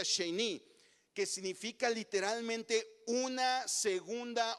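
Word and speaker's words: שני: Esta frase de segunda vez es una palabra hebrea que se pronuncia sheni, que significa literalmente una segunda oportunidad.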